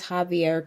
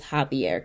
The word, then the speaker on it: Xavier: I read it, but the way that it is spelled, it is spelled like Xavier, but the correct pronunciation is Javier Castello.